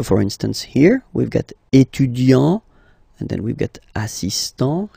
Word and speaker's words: étudiant: Il est étudiant. Okay, A-N-T, étudiant.